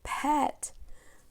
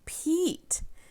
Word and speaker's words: Pete: And this word has the E consonant silent E pattern. This is that silent E that changes a word. If we said this word, it would be pet. But dun, da, da, da, here comes magic E, and it becomes Pete.